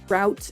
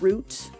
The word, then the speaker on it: route: There's lots of words like that that you can pronounce multiple different ways like route and root. R O U T E. And it's that specifically is one of those words that kind of goes back and forth for me.